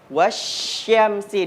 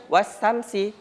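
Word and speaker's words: والشمس: wasyamsi. Di sini ada huruf sya. Nah, jadi kalau huruf sya bacanya itu ada bunyi itu huruf sya. Jadi baca jangan wasamsi dia kurang pas dia bunyinya.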